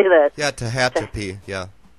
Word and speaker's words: Tehachapi: pretty much any kind of how do you pronounce it? Tehachapi Mountains in California. I don't know how you say that. Yeah, Tehachapi. Yeah. Tehachapi.